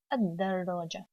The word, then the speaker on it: الدراجة: Now after adding alif lam, dal has تشديد, okay, and I ignore lam in the pronunciation. دراجة الدراجة.